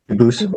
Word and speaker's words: Dubus: get your name straight I know a family with that same exact spelling in America they do pronounce it dubus but you said you pronounce it duus as the original du as the original French French yep very well